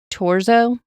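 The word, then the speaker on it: Thurzó: Okay, and this name is Turzo, but when I listened to it, they said Torzo. So I'm going to assume that's how it's pronounced. When I was reading it, was thinking Thurzo, but it's spelled Thurzo. Okay. Yeah. Thurzo is how I'd have said it.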